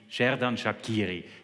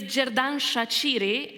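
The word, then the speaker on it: Xherdan Shaqiri: We call probably the best player of the team, Sheridan Shakiri. Tell us how do we pronounce him correctly? It's jerdan shachiri and trust me on one thing we have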